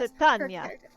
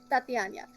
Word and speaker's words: Titania: Titania. Titania, yes. Tatiana. Nope, almost.